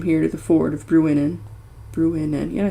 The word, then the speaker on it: Bruinen: 12 days from here to the ford of Bruinen, yeah, I said it right, where the road crosses the Loudwater that runs out of Rivendell.